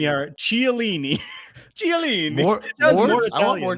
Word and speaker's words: Chiellini: And then A Brown G says, there's a lady sitting next to me that pronounces Chiellini with the chi from like cheese. Chiellini? And it upsets me. Chiellini.